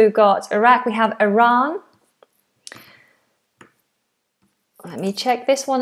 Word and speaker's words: Iran: So, we've got Iraq, we have Iran. Let me check this one as well for Iran or Iran. So American is more Iran, British Iran, a wider sound.